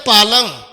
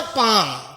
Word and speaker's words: palm: पालम। PALM। तो मैं बताना चाहूंगा, जब भी L और M इकट्ठे आते हैं तो L ऑलवेज बी साइलेंट। तो ये क्या होगा? पाम।